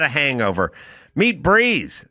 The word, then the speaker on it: Brez: Meet Breeze, spelled B R E Z, pronounced Breeze.